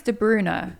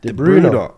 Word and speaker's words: De Bruyne: Is it De Bruyne or De? How do you say his name? Apparently it's De Bruyne, De Bruyne. but everyone like I would say De Bruyne.